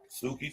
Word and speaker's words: Suki: What does Suki rhyme with? Soupy? Soupy? Soupy? Yeah. Coochie. Oh. Suki Coochie? Suki Coochie. Say it with me. Suki Coochie. Suki Coochie. Suki rhymes with Coochie.